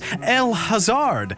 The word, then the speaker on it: El-Hazard: I put on an air of sophistication, looked it up and said, ah yes, El Hazard, as I've now found out it's pronounced.